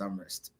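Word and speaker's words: Amherst: My current school is University of Massachusetts Amrest. Yeah. Yeah. Um you you need to pronounce it well. Other than that people will butcher that name.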